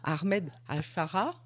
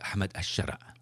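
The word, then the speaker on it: أحمد الشرع: appeler aujourd'hui, je crois, je vais essayer de bien prononcer, Ahmed Al-Shara. Ouais, Ahmed Al-Shara. Voilà. En arabe, ouais.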